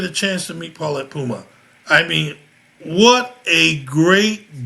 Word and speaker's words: Mpouma: Puma, like the Puma. tennis shoes. All right, Puma like the tennis shoe. Okay, so listen, many of you guys wouldn't get a chance to meet Paulette Puma.